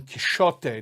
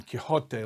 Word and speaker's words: Quixote: And I mentioned that in medieval Spanish pronunciation, that letter X was probably pronounced more like Don Quixote, not Don Quixote like we say it.